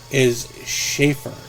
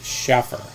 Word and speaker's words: Schaefer: Oh, his last name is Schaefer, not Schaffer.